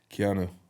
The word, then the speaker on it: Keanu: We might get Keno on. Keno. Keno Reeves. Did you say Keno? Or Cano, like the West Brom striker? Keno Reeves. Keanu.